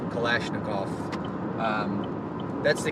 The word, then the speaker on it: Kalashnikov: you see my shirt kalishnikov that's how americans say at least kalashnikov um that's the k